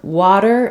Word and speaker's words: water: both the a vowel the first one in water may sound a little affected by the fact that the W is rounded so you might notice between water and bottle it sounds a little more open in ba bottle I don't have any lip rounding to affect that vowel sound in water I'm not really saying